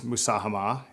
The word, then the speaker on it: Musahama: What is Musahama? Am I saying it right? And tell me about the progress so far. So you're saying it right. So Musahama means loosely contribution, and it is the PIF's local content program.